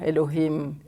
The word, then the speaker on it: Elohim: the God of justice mm-hmm and they yeah Elohim and then in the in the second chapter